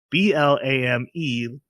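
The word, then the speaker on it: Blame!: But the movie that we're watching is called Blam, but it is spelled Blame, blame, with an exclamation point, but it's pronounced Blam.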